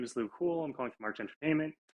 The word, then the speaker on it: Luc Houle: Um, so it's French, but it's actually just Luc Houle.